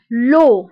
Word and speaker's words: l'eau: بالنسبة ل E A U يعني هنا عندي 3 فويل، E A U كيتنطق ب O O. example rideau donc O rideau. l'eau l'eau هو الماء. دونك E A U كتنطق ب O.